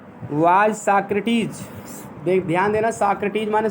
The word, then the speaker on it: Socrates: तो सुकरात की अंग्रेजी साक्रेटीज होता है, स्पेलिंग लिख लीजिए, SOCRATES, साक्रेटीज या सोक्रेट्स, इस तरह से पढ़ के आप इसको याद रखिए, शुद्ध उच्चारण साक्रेटीज, SOCRATES, साक्रेटीज माने सुकरात।